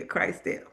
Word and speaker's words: Christelle: The Christ and the El. Yeah, Christelle.